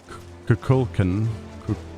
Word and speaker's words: Kukulkan: It's more like Kukalan. Kukulkan.